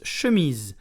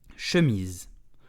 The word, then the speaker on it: chemise: Today we will learn how to pronounce chemise, which means shirt in French. So let's do how to pronounce it perfectly. Chemise, ŝə.miz. Very slow. ŝə.miz. Chemise. So sh, a light then miz with a z sound.